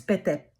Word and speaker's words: Pete: So it's not Pete Parkkonen it's Pete.